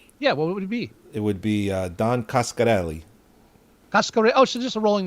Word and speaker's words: Coscarelli: Coscarelli. There's no Italian. There's no Italian edge on that, right?